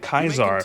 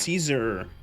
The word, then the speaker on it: Caesar: You must be um It's not pronounced Kaiser. Why are you calling it Kaisar? Do you think it's um like Germans and Kaiser? No, you stupid. It's pronounced Caesar.